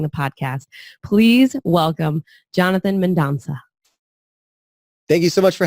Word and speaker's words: Mendonsa: Mendonsa.